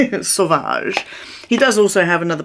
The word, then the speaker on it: Sauvage: talk about Dior Sauvage because we call it sausage in our house. I don't know why, but you know when you say something wrong so many times for fun, you forget how to actually say it correctly. That's me and Dior Sauvage. Sauvage.